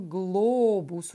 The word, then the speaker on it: глобус: чат спасибо глобус молодец а еще глобус ударение на о уезд глобус очень хорошо